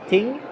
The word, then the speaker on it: ting: Like in Swedish, it's called ting, with like a hard T.